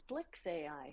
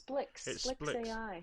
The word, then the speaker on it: SPLX AI: I asked Yeah I asked someone how to pronounce I think it's Splicks AI really even though it's SPLX. SPLX. Okay, but it's Splicks AI.